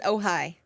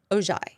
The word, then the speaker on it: Ojai: She says, "Oh hi." Oh hi. Jennifer says, "Oh hi," and she lives in California. Thank you. I had literally been following people who were pronouncing it Ojai.